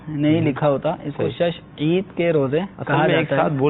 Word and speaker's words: شش عید: نسل چلتا رہتا ہے۔ تو اصل لفظ ہے شش عید۔ ٹھیک۔ تو یہ شوال